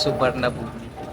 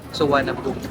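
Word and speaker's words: Suvarnabhumi: Pag binasa kasi natin siya is subar na boom pero ang tamang pronunciation po is suanabom airport.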